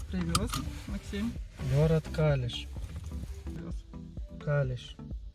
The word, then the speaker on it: Kalisz: Калиш. Не Калич, а Калиш. Город Калиш основан в 850 году.